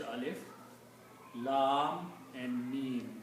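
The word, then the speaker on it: الم: The first ayat starts with the three letters and they are separate letters, they are recited separately. Alif, Lam and Mim. Even though Lam and Mim are written together, but when you read them separately.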